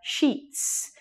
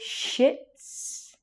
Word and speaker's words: sheets: Now be careful with your pronunciation. You don't want to say shits. That's the stuff that comes out of your bum. You want to say sheets. When you say this, the E's are very long.